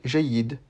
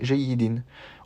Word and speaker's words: جيد: Comme ici, à la fin, j'ai prononcé jayyid. J'ai pas prononcé jayyidin. On peut prononcer jayyidin, mais en pratique, c'est plus simple de ne pas prononcer cette dernière voyelle.